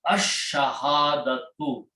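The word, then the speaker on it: الشهادة: So sound of lam goes away and it becomes ash-shahadatu.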